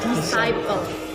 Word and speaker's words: DSCPLE: Jadi sebenarnya ini bukan DSCPLE. Bacanya itu adalah Disciple. Ya, jangan lupa Disciple.